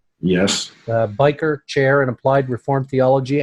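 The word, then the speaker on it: Byker: he holds the Gary and Henrietta is that pronounced biker yes biker chair and applied reformed theology and worldview trained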